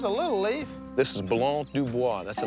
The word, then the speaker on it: Blanc du Bois: This is Blanc du Bois. That's the name of this grape. Blanc de who? Blanc du Bois.